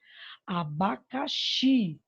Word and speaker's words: abacaxi: Abacaxi, a sílaba mais forte, a sílaba tônica é o xi.